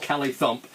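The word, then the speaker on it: Callithump: It's called Kelly Thump. Apparently, it's an old Scottish American thing, and it's spelt C-A-L-L-I Thump.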